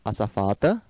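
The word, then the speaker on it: azafata: A safata O Z tem som de S. É como se fala em espanhol, aeromoça, açafata.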